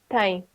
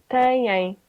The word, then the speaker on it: têm: And this is pronounced instead of if you didn't have that, if you didn't have that little thing, you would pronounce it tem. But Okay. because you have that, it's pronounced têm.